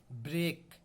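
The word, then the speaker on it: break: ई ए जब किसी शब्द के बीच में स्वर ई ए प्रोनाउंस्ड होता है तो इसका sound long A with short ई होता है। एग्जाम्पल सुनो, जैसे ब्रेक, ब्रेक। तो ब्रेक में देखो शॉर्ट ई आया और लॉन्ग ए आया, इसे ही कहते हैं साउंड।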